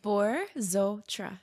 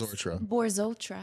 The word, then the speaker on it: Borzotra: Borotra. Just how it looks. Borotra.